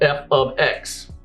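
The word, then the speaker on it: f(x): Whereas up until this point, the functions we've been talking about has always looked like this, with an fx, pronounced f of x.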